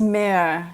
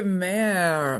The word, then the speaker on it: Mare: And by the way, it's Mare. It's just one syllable. Oh, so Mare.